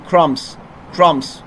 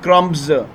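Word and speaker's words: crumbs: ہے یہ ساری چیزیں۔ جب بی سائلنٹ ہوتا ہے، جیسے کہ کرمس، بی سائلنٹ، بی تلفظ نہیں ہوگا، آپ اس طرح نہیں بول سکتے کرمز، غلط ہوگا، ٹھیک ہے نا۔ انڈیٹڈ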